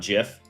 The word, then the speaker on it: GIF: This is the, it's pronounced GIF, not GIF. Well, we don't call it giraffe. The guy who came up with GIFs pronounces it GIF.